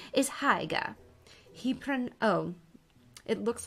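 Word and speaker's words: Haigha: g ha a so I don't know why that rhymes with mayor I love my love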